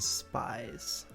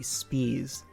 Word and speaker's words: Spies: We got Beardy, Theo, Amel, Darkrai, Jimmy G, Mountay, and Spies. Oh, it's actually Spees.